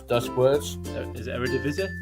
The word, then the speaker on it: Eredivisie: Could you speak Dutch when you pronounce Dutch words? Is it Eredivisie? Eredivisie.